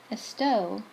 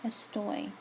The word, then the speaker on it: estoy: So the yo form, instead of being esto, it's actually estoy. Okay, so see, here is where it's different. So instead of saying yo esto, I can't even say it like that. It's yo estoy. That's how you say I am. That's the yo form. It's not just an O ending, it's an OY ending.